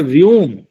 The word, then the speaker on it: वम: वो बताते हैं कि अरे बम बम जो उच्चारण है यह तो अपभ्रंश होकर के बना हुआ है असल शब्द है वम वो वम है तो क्योंकि हम भी